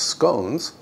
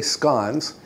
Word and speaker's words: scones: with the scans which some people pronounce scones but I say scans because I use the Scottish pronunciation for the scans I'm using 3 cups